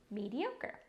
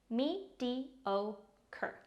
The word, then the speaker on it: mediocre: Mediocre. Pronounced like this. Me-di-o-cur.